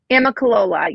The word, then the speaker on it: Amicalola: Yeah, I think I would have been close because it's phonetically right.